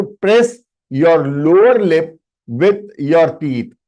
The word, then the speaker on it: व: You pronounce it as V. You have to press this with your upper teeth.